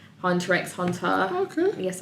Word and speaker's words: Hunter x Hunter: and I'm gonna say Hunter x Hunter oh cool yes I do pronounce the X sorry don't hate me